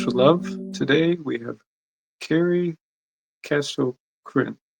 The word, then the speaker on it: Karey Casto-Chrin: Today we have Carrie Castro Krin. Right. Good job. Yes, that's how you pronounce it.